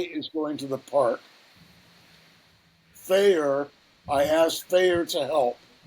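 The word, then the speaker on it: faer: or gender-fluid identity, and are pronounced with an F sound, replacing the TH sound in they, them. They are typically used in the third person. Faye is going to the park. Fayer, I asked Fayer to help.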